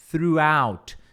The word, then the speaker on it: throughout: E aí é throughout. É como se fosse assim, o TH, throughout. E aí depois tem tipo uma palavra out.